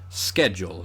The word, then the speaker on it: schedule: the word historically um it actually originates from Greek and typically speaking a lot of Greek loan words that begin with uh s CH like the word school um are pronounced SK schedule in this case whereas it's words like Schmaltz um that came from German that get that that kind of sh sound um's really I